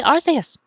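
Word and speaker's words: Arceus: Like one of the most debated Pokemon names to pronounce is Archus or Arus. So I just read his Japanese name and his Japanese name is Arus. So obviously his English name must be Arus.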